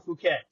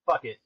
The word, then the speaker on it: Phuket: It's either Pattaya or Phuket. Phuket. Phuket. I remember. I think it's funny to say. Usually mispronounce fuck it, but it's Yeah. Phuket.